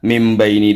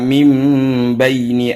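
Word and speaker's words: مِن بَيْنِ: berubah menjadi huruf mim seharusnya Min bacanya tetapi karena ini bertemu dengan huruf iqlab maka bukan Min bacanya tapi menjadi mimpi wajaalna mimbaini aidihim jadi non matinya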